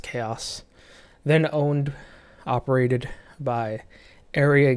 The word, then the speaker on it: Aeria: then owned, operated by Area Games, that's spelled Aeria, I believe, and then sold to Gamigo, and now operated by Fox.